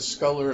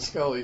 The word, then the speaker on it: Scully: And at the end, I want to say it right, I said Sculler and Mulder last time, but it's Mulder and Scully say, they're talking, and